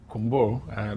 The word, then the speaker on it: Kunbour: Brother Benjamin Kunbour. That's what he's taught me to pronounce his name as.